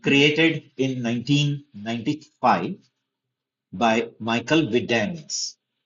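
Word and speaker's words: Widenius: So MySQL created in 1995 by Michael Vidanis. Michael Vitanis. You have to pronounce it that way only.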